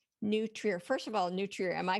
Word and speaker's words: New Trier: name starting with New Trier first of all n Trier am I pronouncing that correctly Trier yes okay so let's start I'm afraid I